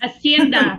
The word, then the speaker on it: hacienda: What is the pronunciation, sister? I think Claudia knows. Hacienda.